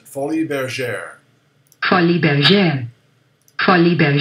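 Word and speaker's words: Folies Bergère: your teeth next word oh I know how to pronounce that because I'm an old person fully their share honey been again honey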